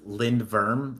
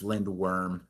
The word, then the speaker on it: Lindworm: But um yeah, I mean it's also funny because people are telling me it's pronounced Lind Verm like V, but then uh Steven Paul said no, it's Lindworm.